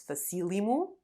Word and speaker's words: facílimo: Fácil becomes facílimo and difícil, dificílimo. Note how the accent changes syllable.